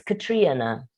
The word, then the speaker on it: Catriona: sometimes myself because people won't understand if i pronounce it the correct way it's katrina katrina katrina katria now yeah oh okay all